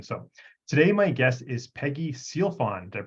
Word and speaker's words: Sealfon: the show description so today my guess is Peggy sealfon did I pronounce that properly yes absolutely perfect so Peggy